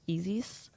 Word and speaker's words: Isis: nobody pronounced it right it's actually pronounced EES EES okay EES so Eis or e e EES yeah e okay okay nice nice but Americans pronounce it Isis so got you moving